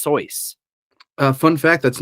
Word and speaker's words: Seuss: remember it now um so Dr Seuss that's not actually how you pronounce his name he actually wrote a poem about how to pronounce his name and it's actually pronounced soyce uh fun fact that's